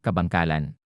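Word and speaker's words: Kabankalan: AJ, you're actually from the Philippines here, so can you tell us how to pronounce that name? Kabangkalan.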